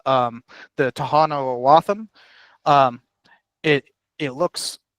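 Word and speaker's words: Tohono O'odham: uh called um the Tahano Aam. Um it it looks it's it looks like it's spelled aam um with a d. But that d is actually pronounced with a th aam.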